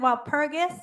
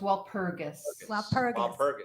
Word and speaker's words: Walpurgis: well purchased from um am i saying it wrong while pergus or robert the g is actually hard so it's walpurgis okay yeah i saw